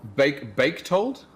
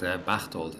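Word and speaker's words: Bächtold: Baketold? I mean, that one is really, really difficult. Bachtold, actually. Bachtold. Okay. I don't expect English speakers. No, I don't expect English speakers to be able to actually pronounce that, because it is a Swiss name, and it is a Swiss name. It is meant to be pronounced in little valleys and mountainous ranges.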